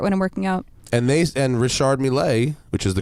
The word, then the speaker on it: Richard Mille: And Richard Mille, which is the correct pronunciation, says, fuck all that.